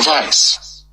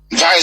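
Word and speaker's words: Weiss: his name is Michael vice vice spells w i SS please micro Vice that's how you pronounce it because in German in in Germanic language W is pronounced as V like volksvagen before I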